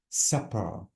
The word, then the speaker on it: supper: oh Bravo so guys super is only one p and I have to pronounce it as super and this is supper with double P this is something strong